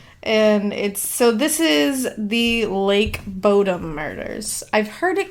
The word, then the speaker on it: Bodom: And it's Bodom. O-M, yeah. So I feel like Bodom is right.